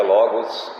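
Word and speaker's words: λόγος: certo em grego razão a palavra razão né se pronuncia Logos e Logos seria um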